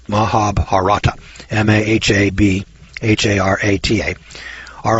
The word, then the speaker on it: Mahabharata: text which is called thee now I can't pronounce this word but I'll spell Oprah Maha Mahabharata Mahabharata mah a.b har ATA are a nerve chiller